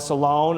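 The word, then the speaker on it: Salaün: You have that exciting second-year player, Janelle Salone, I believe is how you say her last name.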